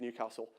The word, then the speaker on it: Newcastle: at the university of newcastle and uh it's got a short a in case you southerners were wondering um this bugged me